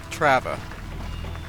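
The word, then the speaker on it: Трава: Trava. Wow, Fast Knight's from... No, it's T-Paba. Oh, it's pronounced Trava.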